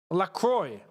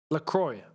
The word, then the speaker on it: Lacroix: I just know that that's a French-orientated name, and in the French accent, technically, it's LaCroix. Right? But I know the English don't say his name like that, so I was curious.